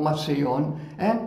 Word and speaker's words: Massillon: Massillon, first of all, Massillon, it's written in French, M-A-S-S-I-L-L-O-N. In French, I-L-L is pronounced E.